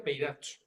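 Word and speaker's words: πειράζω: Y esta palabra es peiracho, que no ha salido en español, estaba, pero no ha salido, pero créeme, se pronuncia peiracho, ¿vale?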